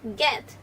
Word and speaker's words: get: p, at, pet, b, at, bed, g, at, get, get, get, net, net, net, net.